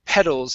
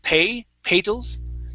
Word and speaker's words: petals: Let's go to the word petals instead of petals. Okay, use a short E here.